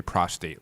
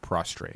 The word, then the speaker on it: prostate: you said it right but some people say prostate like prostrate no that's weird that's